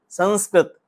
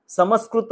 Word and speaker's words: संस्कृत: करता करना होता है मुह का प्रयोग जो ऊपर बिंदी है व म कई बार उसका उच्चारण करते समस्कृत नहीं है संस्कृत नहीं है आपका संस्कृत बोल के समय आपका ठ स्पर्श होता है तो आप उसका उच्चारण गलत करते अनुना अनुस्वार है और